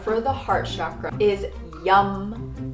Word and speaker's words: yam: The Bija mantra for the heart chakra is YUM. So this is spelled Y-A-M, although it's like yum, I just ate some food.